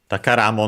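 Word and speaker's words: 宝: Then we have the, sorry, I didn't mention the accent of the takara on its own, accented on the final syllable, but the compound is unaccented, so be careful.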